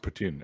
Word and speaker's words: poutine: it's also gonna say it's pronounced patin actually but i think we